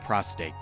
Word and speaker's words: prostate: very serious video about prostate and no i'm not pronouncing it incorrectly the second r is just silent fun fact in this